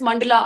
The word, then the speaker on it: मंडल: Creating there is this मंडला art that you डू. यू can create मंडला, आप मंडाला भी बोल सकते हो, इट इज डिफरेंट Yeah.